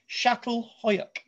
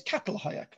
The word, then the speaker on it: Çatalhüyük: Today, we're going to be looking at, as I'm told, the right pronunciation is Çatalhüyük, which I always call as Catalhoyuk.